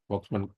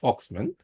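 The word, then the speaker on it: Volkmann: Voxman some people pronounce it at Voxman. actually it is pronounced foxman contraure due to contraure of eskeemic contraure of the flexor compartment.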